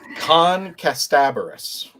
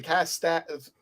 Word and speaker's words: Kasterborous: Kasterborous. Thank you. There you go. That's an ER there. It's an A. Kasterborous. So for those of you who've been saying Kasterborous, the way that I've